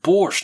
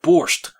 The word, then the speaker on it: borscht: "It's pronounced borscht, not borscht.